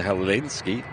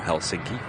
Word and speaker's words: Helsinki: flight 1362 off to Helen ski or Helsinki for those who want to pronounce it right and Nicholas saying my